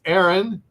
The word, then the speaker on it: Harun: But it is, believe it or not, it's pronounced it can be pronounced the English way as Aaron uh.